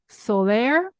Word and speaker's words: Soler: are deeply passionate about the music of Antonio Solair am I pronouncing okay absolutely right so for listeners who